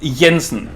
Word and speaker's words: Jensen: It's just Jensen, as if it was a Y in front, because that's how J is pronounced in Danish.